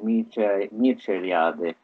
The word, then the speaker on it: Mircea Eliade: Considerare Mircea Eliade, e questa è la pronuncia perché in francese Mircea Eliade, un esoterico